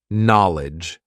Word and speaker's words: knowledge: So many letters, so many useless letters in terms of our pronunciation, right? Let's see what happens when we backchain it and when we write it phonetically. Are you ready? Lidge. There's only two parts now. Knowledge. There are only two parts, really, to the sound of this word, the pronunciation of this word.